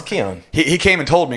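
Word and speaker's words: Cain: mispronounced had he not told me how to pronounce it because he spells it uh c-a-i-n yeah that's kane in it yeah it's keon it's keon he came and told me because i would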